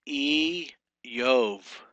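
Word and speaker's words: אִיּוֹב: We have here, number 19 is E. You got that doubling, you got that dot in that yod right there. That is actually a doubling dagesh that doubles that letter. So it's E Yov.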